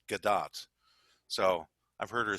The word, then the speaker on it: Gadot: Just Gadot is how it's pronounced. Yeah. You know? It's like dot with a G in front of it.